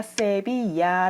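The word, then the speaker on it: Sevilla: 애 라고 얘기를 하는데요 어제가 살았던 스페인 도시가 세비야의 라고 하잖아요 것에 be 아가 l2 되어 있기 때문에 왠지 듀얼 발음이 날 것 같은 생각이 들지만 1 발음이 나지 않습니다 단지 아아 발음을 야 로 바꿔주는 역할을 해요 그래서 스페인어 에서 l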